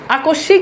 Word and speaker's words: আকস্মিক: আকস্মিক, দেখেন এই যে এখানে এই যে শয়ের সাথে মফালা যুক্ত হয়েছে এই জন্য এখানে শয়ের দ্বিত্ব হয়েছে।